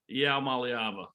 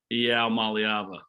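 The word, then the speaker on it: Iamaleava: Let's start with the actual pronunciation of Nico. Let's go. Maliava. Again? Maliava.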